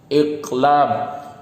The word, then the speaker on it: iqlab: Bacanya gimana? Iqlab.